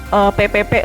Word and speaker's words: P3: Jadi PPP lah ya bacanya.